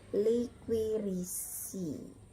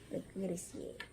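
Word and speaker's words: Liquiritiae: Kemudian tiae dibaca sie. Jadi contohnya ini liquirisi. Nah, liquirisi ya gitu ya.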